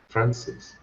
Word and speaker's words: Francis: You stress it as the second syllable. My name is being stressed on the second syllable. Francis.